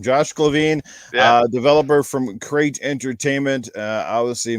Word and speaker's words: Glavine: Is it Glavine or Glavine? Either one is fine. It's actually Glavine, but depending on where you are in the country, people say it differently.